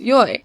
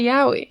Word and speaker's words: yaoi: When I first heard of it, so many people were adamant that it was pronounced yoi. But when I look up how to pronounce it now, they get really pissed if you don't say yaoi.